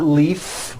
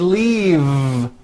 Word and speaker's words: leave: is that correct no it's not leaf with an unvoiced f i should have said leave with a voiced v sound fisa she just